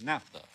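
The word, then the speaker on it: naphtha: or spot REM Professor Noor says the correct pronunciation for n a p h t h is Napa and it is a cleaning fluid a solvent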